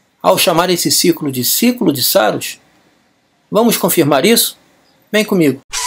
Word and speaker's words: Saros: Saros vem do grego Saru, que significa Saros, pronuncia-se Saros, né?